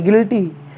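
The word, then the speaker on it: guilty: Bhagat next ji यू आई एल टी वाई गिल्टी जिसका मतलब अपराधी होता है तो उम्मीद है कि आपको यू कब साइलेंट होता है अच्छे समझ में आया होगा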